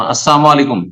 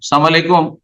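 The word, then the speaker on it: السلام عليكم: কিন্তু সেটাকে যদি বিকৃত করে দেয়, হ্যাঁ, যেমন আসসালামু আলাইকুম, সালাম আলাইকুম, তাহলে সালাম আলাইকুম মানে মরণ, তাহলে হারাম, গুনার কাজ।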